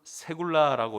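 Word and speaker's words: סגולה: 하나님의 소유, 세굴라라고 이렇게 발음하는데 선택 또는 소유, 내 소유, 내 것, 나의 보물 이렇게 번역할 수 있습니다.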